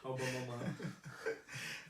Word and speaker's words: Aubameyang: Aubameyang.